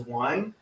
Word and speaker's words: Wein: His last name is Wine. Wein.